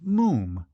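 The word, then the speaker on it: Moffam: father it's Mo M it's spelled m FF a m but pronounced mum to rhyme said Archie helpfully with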